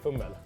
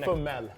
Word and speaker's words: fumble: I say fummel. Fumbel. Yeah. Fumbel. It's fummel. Fummel. Yeah, so no no B.